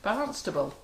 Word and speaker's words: Barnstaple: Barnstable.